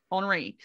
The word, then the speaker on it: Henri: know henry of no henry is actually okay honoree is how i've heard it pronounced in multiple different things um that's hard for